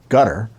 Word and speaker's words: Qatar: I call it Qatar. I'm told to pronounce it gutter.